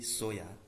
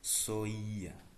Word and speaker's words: soya: Correct pronunciation of soya is soya, but we used to say soya, but it is not correct. The correct way of pronunciation is soya.